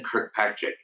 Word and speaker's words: Kirkpatrick: have with me Kirk Patrick did I pronounce it in the most redneck way possible that's it you got